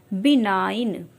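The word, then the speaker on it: benign: भी मिले जि मलाइन बिनाइन इस तरह के सभी वर्ड्स में जो जी साउ लेटर है वो हमारा साइलेंट है डिजाइन मींस होता है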